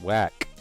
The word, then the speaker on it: Whack: Whack. With a silent H.